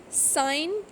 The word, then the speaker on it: sign: Foreign, sign, feign. So in these cases we can see that G is not pronounced when it comes before N in a word.